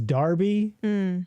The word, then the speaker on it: Derby: English do this too if it's Derby d e rby y is Darby so D like if you were to read it would say Darby Shire but you say it is Derby or Darby sure whatever